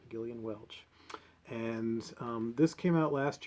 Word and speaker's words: Gillian Welch: think i want um galen welch's new one um all the past good times are passed and gone it is pronounced gillian with a hard g gillian welch and this came out